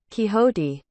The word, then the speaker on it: Quixote: Quixote.